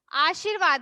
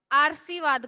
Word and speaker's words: आशीर्वाद: दोनों आधा ही होगा उज्ज्वल है कि पिछले आशीर्वाद है आशीर्वाद मदद लोग बहुत ज्यादा ने इसका यूज करते हैं आर्शीवाद का आठ जीरो का वध लेकिन होगा आखिर